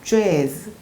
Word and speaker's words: jazz: 그것처럼 J 발음은 우리가 생각하는 지읒과 발음이 다릅니다. 오히려 G에 가까워서 입술을 앞으로 더 내밀면서 G라고 좀 더 세게 발음을 해야 됩니다. 우리가 생각하는 재즈도 재즈가 아니라 jazz 이렇게 되고, 그리고 감옥이라고 할 때 jail이 아니라 jail입니다.